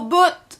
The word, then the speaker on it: boutte: ajouté à sa phrase au boutte ça veut dire au bout c'est juste qu'on met un tir de plus à l'afep ont aucune raison juste pour pouvoir prononcer le thé muet au bout ça veut